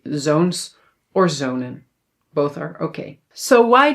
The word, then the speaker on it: zonen: We must pronounce this as mannen, redden, zonnen. But no no no no no, that's not correct. We pronounce these words as manen reden and zonen. So now it is long.